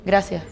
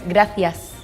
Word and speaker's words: gracias: We usually miss the s's for example to say thank you we say gracia but in the mainland it's gracias and the v kind